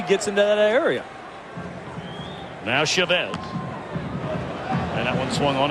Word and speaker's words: Chavez: may be wondering uh you've heard him called Chavez and we asked him about it he said he doesn't really mind either would he said but his father has always uh pronounce the family name Chavez so you always want to honor mom and dad and Eric we're going to do the same for your day dad says that's the way it is that's the